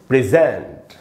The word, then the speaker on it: present: तो इसका अब रूल हमसे कह रहा है कि जो सेकंड सिलेबल है उस पर स्ट्रेस डालना है।